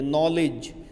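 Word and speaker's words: knowledge: नॉलेज पढ़ते नॉलेज है। लिखते कनॉलेज है।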